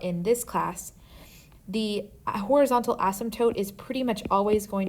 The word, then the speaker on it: asymptote: hot second on this word but this is pronounced horizontal asymptote a horizontal asymptote will always be drawn on a graph with